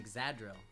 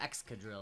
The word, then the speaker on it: Excadrill: I just caught an Exadrill. Or Excadrill, I guess is how you'd actually pronounce it.